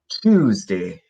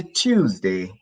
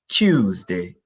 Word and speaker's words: Tuesday: We've got Monday, Tuesday, and remember the pronunciation, it's Tuesday. Yeah, some people say Tuesday, Tuesday, or Tuesday. You can use the ch sound, or you can use the tw, Tuesday, Tuesday. But it's easier to use the ch sound, Tuesday.